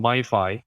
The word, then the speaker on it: MyFi: I eventually settled on MyFi, which rhymes with Wi-Fi for a reason, because